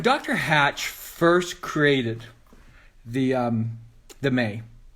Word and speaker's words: MEI: Hatch first created the May, right? The MEI, when he first created the May, that's how you pronounce it.